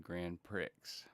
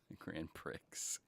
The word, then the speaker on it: Grand Prix: okay I understand Marcus I was taught to pronounce Grand Prix and Grand Pricks by my parents who thought it was funny a really nice person corrected me Grand Pre well me and my